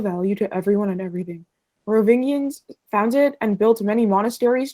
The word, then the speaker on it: Merovingians: Merovingians. Merovingians.